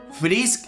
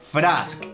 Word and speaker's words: Frask: atención, que me estuvieran reclamando, es que se pronuncia Frisk y Toriel, no Frask y Tarial. A ver, esto es Undertale. Frisk en este universo es Frask y Toriel en este universo es Tarial.